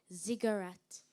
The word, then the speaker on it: ziggurat: pyramid-like temple in Mesopotamia am I pronouncing the word correctly ziggurat yes you are thank you ziggurat Zed